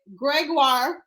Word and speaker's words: Gregoire: let me see it greguar ha I finally got it right guys I've been pronouncing it wrong this whole time who knew right I